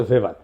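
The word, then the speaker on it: ভেবার: না আরেকজন দার্শনিক আছে ম্যাক্স ভেভার এটা ওয়েভার বলে অনেকে এটা উচ্চারণ আসলে ভেভার তার একটা লেজিটিমেসি এবং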